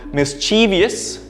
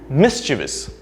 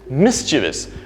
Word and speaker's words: mischievous: wait for it is mischievous mischievous notice the syllable the first syllable being stressed and there are only three syllables here right mischievous so by knowing where